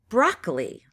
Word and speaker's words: broccoli: Examples of this would include a crew, a cur, broccoli. You can hear that hard K sound in there.